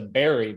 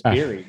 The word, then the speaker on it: Beery: I mean, almost everybody does the Berry, but it's Beery. Beer with a Y.